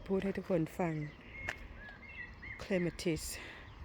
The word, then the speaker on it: clematis: ให้ ทุก คน ฟัง clematis ถ้า ออก เสียง แบบ ฟิ ก็ clem atis แต่ ว่า ออก เสียง ควบ กัน ก็ เป็น clematis ค่ะ สวย งาม เนี่ย เดี๋ยว